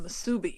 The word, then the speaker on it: musubi: Oh well, that I know what spam musubi is. So yeah. Okay. But you put the emphasis in another place, musubi.